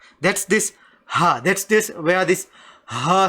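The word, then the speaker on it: حاء: Okay, this ha is also from the throat, but this ha, it's much deeper. They say it's from the stomach.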